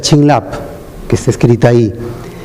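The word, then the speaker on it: བྱིན་རླབས: Y esa palabra se pronuncia Chinlap, que está escrita ahí.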